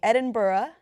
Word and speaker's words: Edinburgh: We are talking about Bryan Singer at the Edinburgh. I hope I pronounced it correctly.